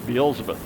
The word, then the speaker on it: Beelzebub: Beelzebub.